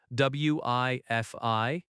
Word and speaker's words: Wi-Fi: Wi-Fi has stress on both syllables. Wi-Fi.